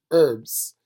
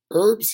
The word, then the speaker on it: herbs: right and just say herbs put in British because they're sticklers in their weird they pronounce the H herbs here herbs they're fun